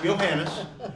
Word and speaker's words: Johannes: your name Johannes it it is pronounced johanis but everybody calls me that's my nickname is